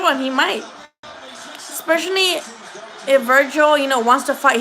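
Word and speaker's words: Vergil: the day it's up to you his name is spelled ve RG IL ve naught V I is not Virgil its Virgil and maybe he is I feel like if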